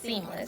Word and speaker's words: CEAMLS: So center of equitable artificial intelligence and machine learning systems which is pronounced seamless.